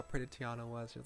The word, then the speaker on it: Tiana: Charlotte lauff she said to uh Tiana she Tiana Tiana that's how you pronounce the name Tiana she said oh aren't